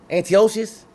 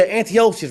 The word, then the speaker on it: Antiochus: pronounce name for me I don't want to mispronounce his name cuz he say it one more time who antio Antiochus yeah Antiochus right so he just ran Egypt this King